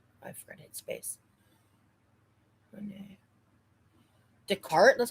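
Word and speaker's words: Descartes: Decart. That's how you say that. That's how you pronounce it. Yeah. Decart. Oh, so the S is silent.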